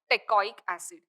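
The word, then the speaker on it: teichoic acid: but the Teo acid okay pronunciate as Teo acid teic acid is anchored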